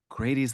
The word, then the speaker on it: Grady: question that I've always Pronouncing my name, Grady. Grady, Yeah, Grady. it's just Grady. Um I I have this kind of I imagine this kind of like life of you, of Grady Hendrix.